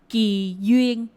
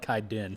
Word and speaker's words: Ngoc Huynh: How do you correctly pronounce it? Ngoc Huynh. Yeah, okay. So I call it Kai Din.